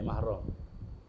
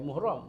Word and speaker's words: mahram: Abeh abe mahram ni. Muhrim saya. Muhrim kut mananya sedap. Kadang-kadang nak baiki payah tukar boleh mahram muhrim. Perempuan yang bukan mahram. Bukan muhram. Mahram eh mahram.